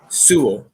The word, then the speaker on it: Sewell: I've got Sewell. That's how you pronounce it, right? Is that right? Yep. I have Sewell going there.